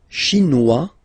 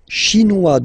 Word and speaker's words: chinois: La Chine, chinois. So it's really this wah wah wah sound, remember? Chinois, chinoise.